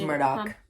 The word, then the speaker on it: Murdaugh: It's Murdaugh.